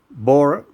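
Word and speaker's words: Borah: nor for tamworth but you can type it in it's going to a h on the end of it mount bora it's got a silent h see you later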